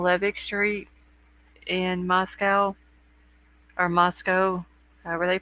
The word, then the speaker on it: Moscow: had one on Levick Street in Moscow or Moscow where they pronounce it then we've got the cordeline address